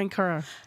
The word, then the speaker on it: Ankara: You're Geli and you're Ankara.